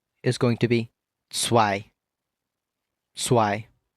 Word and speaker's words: zwei: 2 is going to be zwei. Zwei.